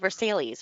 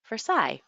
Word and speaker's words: Versailles: that's called Versailles and here they call it Versailles or something like that like what what we